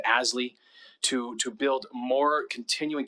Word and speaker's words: ASLI: living initiative or asli we use the acronym pronounce it asly to to build more